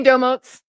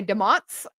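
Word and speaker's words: Domotz: And I seen somebody say, how do you say Domotes? So, this is a funny story. I say Domotes. However, our CEO and the founders and stuff say Demots.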